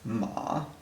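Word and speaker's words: 马: On the right side, we have this character, which is pronounced ma, and ma means horse.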